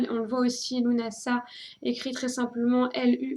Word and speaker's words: Lughnasadh: faut pas vous étonner sous plusieurs orthographes différentes qui se prononcent toutes de la même façon lunasa qui s'écrivent généralement lugnassad alors on va le trouver avec des h après le G et le D ou carrément sans h quelquefois on le voit aussi